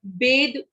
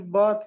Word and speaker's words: bathe: जो की है, स्पेलिंग, बात की सॉरी BATHE बात है क्या मैम ये? अभी बताऊंगी मैं आपको, है ना? बात मतलब नहाना है, वो बेद है, उसकी बात की वर्ब फॉर्म है बेद, BATHE, देखिए ओके बात मैम।